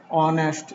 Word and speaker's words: honest: the this condition is we'll use a when we'll get a word with silent h if the word start with silent h then we will use a n before the word for example n r h o u r and honest h o n e h d honest